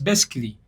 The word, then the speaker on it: basically: nga bakyogera nti basically it's basically because A is silent basically actually okitegeera accent